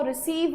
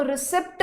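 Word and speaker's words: receipt: आई पी टी और इसको रिसिप्ट नहीं बोलते इसको बोलते हैं रिसी क्या बोलते हैं रिसी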